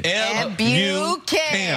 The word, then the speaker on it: Ebukam: correcting me on a pronunciation. I love Look at me. Look at me, baby girl. Okay. Ebukam.